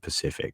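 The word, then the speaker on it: Pacifique: We call it, I think he said Pacific is how he pronounced it on first name. So I'm going to go with that.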